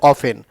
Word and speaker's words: often: তো অবটেন আমরা তখন একটা সময় অফটেনও বলা হইতো।